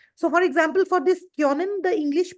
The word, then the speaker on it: können: It is not Conan. Here we are having O umlaut. Whenever O umlaut comes, we have to give the sound of yo.